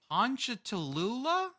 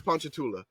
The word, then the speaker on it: Ponchatoula: fun belt you know what like he's from honcha Tallulah hunt punch uh okay that was one on the Louisiana pronunciation list it's Ponchatoula but uh so I'm gonna have to take